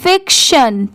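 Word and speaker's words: fiction: और किसी भी कोई भी वर्ड के लास्ट में टी आई ओ एन है तो उसे सन पढ़ते ही हैं। मतलब उसकी साउंड क्या आती है? शन की।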